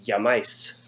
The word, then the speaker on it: llamáis: So it'd be llamáis with an accent on the A, not the I.